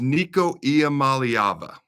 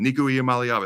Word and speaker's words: Nico Iamaleava: So his name is Nico Iamaleava.